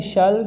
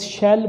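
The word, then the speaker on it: shall: अब देखना है कि शल किन के साथ यूज़ होगा और विल किन के साथ। इसको यूजुअली स्टूडेंट्स शेल प्रोनाउंस कर लेते हैं, वो गलत है। शेल नहीं है बल्कि शल है।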